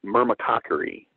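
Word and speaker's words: myrmecochory: that listed there and it's pronounced myrrh makka curry Hamer makka curry is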